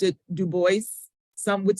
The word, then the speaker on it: Du Bois: And again, the name is, he pronounced it Du Bois. Some would say French, of course, Du Bois, but it's Du Bois for his pronunciation.